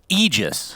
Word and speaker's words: Aegis: It's Aegis, Yes. technically. Okay, But Ice Frog himself said, no, I want everyone to mispronounce it as Aegis.